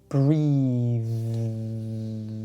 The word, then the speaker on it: breathe: Breathe. I breathe in and I breathe out. Breath is the noun. For this, we use the unvoiced TH. Breath. We breathe in, but we take a breath.